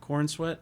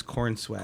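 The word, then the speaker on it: Corenswet: and uh what's his name David Corn sweat corn sweat I don't know how pronounce that yeah corn sweat wait hang on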